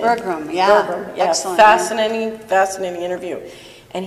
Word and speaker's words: Berglund: Is that how you pronounce his name? Berglund, yeah.